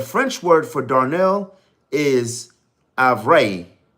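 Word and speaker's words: ivraie: In the French word for Darnell is avray. I believe I'm pronouncing it right, but it's avray.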